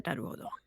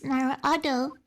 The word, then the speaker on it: Naruhodo: So the H in Hodo is silent. Oh. By me, Miss Naruhodo.